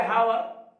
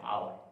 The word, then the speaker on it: hour: जैसे हम लिखते हैं HOUR, तो उसका उच्चारण होना चाहिए हावर, लेकिन वहां पर एच का उच्चारण साइलेंट होता है। क्या कहते हैं? आवर कहते हैं ना, आवर कहते हैं HOUR का।